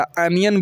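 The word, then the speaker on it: onion: ओनियन ओनियन अनियन इसको आप लोग ओनियन बोलते हैं ना ओनियन नहीं होता अनियन बोलते हैं इसको ओ एन आई ओ एन इसको क्या बोलते हैं अनियन अनियन समझ गए तो यहां ओ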